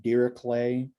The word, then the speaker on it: Dirichlet: this is called a dirichlet dirichlet condition um i've heard some people pronounce the name dira clay like with the kind of k i mean it depends